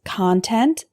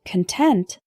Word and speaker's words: content: Franklin attribute attribute our next hetero name is content and content content is a noun meaning information or objects